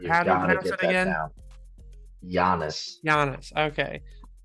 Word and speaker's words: Giannis: is it how do you how do you pronounce it again Yannis jannis okay jannis so his brother is on the team too